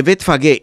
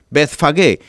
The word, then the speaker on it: Betfagué: Betfagué se escribe b e t h. Bet que significa casa o lugar. Fagué se escribe ph a g e. Betfagué.